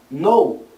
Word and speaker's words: know: Por exemplo, a gente tem palavras terminadas em K e N no inglês, onde a gente não pronuncia o som do K. Know, saber, knife, faca, knee, joelho, doorknob, maçaneta.